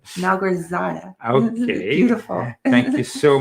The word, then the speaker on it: Malgorzata: I always say her name wrong. Malgorzata. Malgorzata.